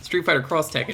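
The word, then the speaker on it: Street Fighter X Tekken: hunter fighter x tekken street fighter cross tekken is actually how you pronounce that and then other times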